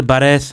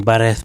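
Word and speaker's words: Barez: next fight was Daniel Barz versus Victor altamirano um I'm saying Barth because flipping Michael Bisping was yapping about how to pronounce it anyway um so yeah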